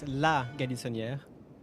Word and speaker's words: La Galissonière: It's La Galissonière. Yeah, you have to add a la before.